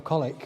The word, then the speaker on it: Colwick: I'm glad you said that because I didn't know how to pronounce it. He does. He's a local boy. No, Colwick.